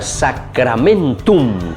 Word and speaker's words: sacramentum: No se olviden que la palabrita sacramentum, que es una palabra latina. A ver, Vanessa, ¿cómo se dice entonces en latín? Sacramentum. Muy bien, con la M al final.